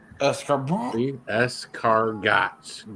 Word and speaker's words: escargot: Escargots. Giant snails. There's a dozen in there. Spelled like escargots, pronounced escargot, literally means snails.